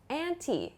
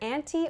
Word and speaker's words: anti: The next one is anti. You might hear anti or anti. Both are correct.